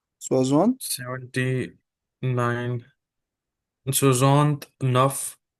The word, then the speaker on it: soixante: And how do you pronounce 60s? Soixante. Soixante.